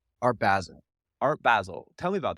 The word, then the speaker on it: Basel: Uh, how do you pronounce it? Basil? Art Basel.